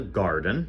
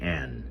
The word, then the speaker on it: Gardyn: This one is called a Gardyn, spelled with a Y, Gardyn, okay?